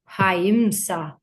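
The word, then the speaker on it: ahimsa: The H is pronounced like ha, haimsa.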